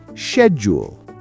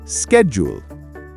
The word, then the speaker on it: schedule: For example, the word schedule. In the UK, we say schedule. In the US, it's schedule.